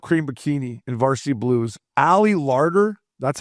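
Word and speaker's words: Ali Larter: Ally Larder, that's how you say her name.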